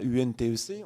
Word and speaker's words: Untec: c'est reconnaissable cette acronyme on ne prononce plus les lettres une par une on y va untec on dit bien intègre c'est un nom qui